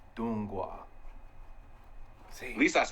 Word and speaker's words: Donghua: So Chinese anime is called Donghua, and Korean anime, I forget what it's called.